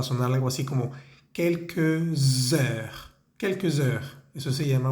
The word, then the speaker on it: heure: pronunciar la palabra heure, ahí hay una H, es una H muda, es decir, es como si no existiera, no se pronuncia.